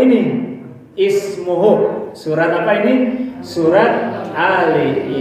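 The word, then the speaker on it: اسمه: Menurut rumus dibaca u karena huruf ketiganya u. Tapi mengikuti ahli baca, menurut ahli baca, alif ini dibaca dengan bunyi i. Ismuhul Masihu Isa bin Maryam wajiha. Silakan baca. Ismuhul Masihu Isa bin Maryam wajiha.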